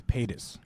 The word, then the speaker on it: Paytas: anyone help me out back there with the pronunciation it's Paytas oh my it was even close I just